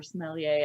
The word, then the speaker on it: sommelier: true i admit that the term sommelier or sommelier as the correct as you correctly pronounce it is a bit